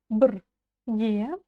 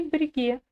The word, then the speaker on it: бірге: Дальше идет слово брге. Ударение на ге. Буква «ы» практически не произносится. Брге. читается очень мягко. Брге. Но не бреге.